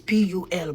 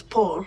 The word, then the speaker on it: Pul: All right, Pul is P-U-L, but it's pronounced as Paul, or you can say Pul.